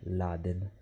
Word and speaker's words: Raden: E in più Raiden all'inizio non si doveva chiamare Raiden ma Raden, che in giapponese si pronuncia Laden.